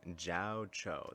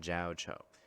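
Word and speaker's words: Jiaoqiu: Jiao Cho. That's how he's pronouncing it. Jiao Cho.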